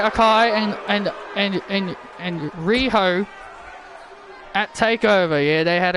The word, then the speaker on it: Riho: sakai here tonight and riho by her side the reason why i'm saying her name is rijo that's because that's how michael told me to pronounce it riho i just said ryo i'm just saying